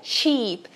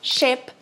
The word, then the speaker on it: sheep: E lembra que ela é sheep, ovelha sheep e não chip, que nem navio.